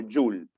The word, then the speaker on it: Joule: Joule se escribe Joule y se lee como Joule. Y su símbolo es simplemente J.